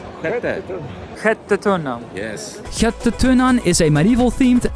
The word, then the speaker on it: Sjätte Tunnan: How do you pronounce that again? Skattetunnan? Skattetunnan.